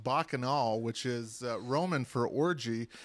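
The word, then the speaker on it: Bacchanal: Well, Scott, first off, it's pronounced Bakanol, which is Roman for orgy.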